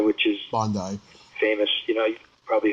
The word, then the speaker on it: Bondi: It's it's pronounced Bondi, which is Bondi, famous.